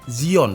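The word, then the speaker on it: Xeon: nah Intel DL ini biasanya ada di prosesornya Seon Zion bacanya Ya dan menarik menarik banget karena di seri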